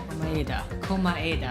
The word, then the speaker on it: Komaeda: The person who actually arranged this incident was the victim, Nagito Komaeda. Monokuma Ada. That's how you're supposed to pronounce his last name.